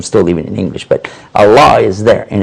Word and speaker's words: Allah: he probably said uh allaha allaha it's a different pronunciation because because it wouldn't have the doubling or the shed on the lamp so it's kind of like a different dialect but the same word a same same word Allah allaha I I